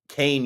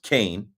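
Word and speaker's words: Kean: Kain University.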